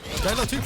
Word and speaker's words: Geiler Typ: How'd you pronounce that? Geiler Typ. It basically means cool dude in German. It's actually a German word.